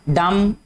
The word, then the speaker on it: dumb: इसके बाद है डम, DUMB। ठीक है, इसमें ये जो B है ये भी क्या है, साइलेंट आएगा।